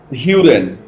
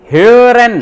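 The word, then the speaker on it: hören: देखो किसी का भी प्रोनाउंसिएशन सही नहीं आ रहा है, क्या क्या बोलते हैं? Huren. फिर से गलत, ह्यूरन। Huren. Huren. ह्यूरन, Urine. Huren. ठीक है, ह्यूरन।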